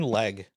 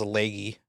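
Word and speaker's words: Legge: Also, I think it's actually pronounced leggy. But Leg works better.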